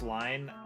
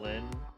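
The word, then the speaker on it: Lynne: It's actually pronounced line, not like the name Lynn.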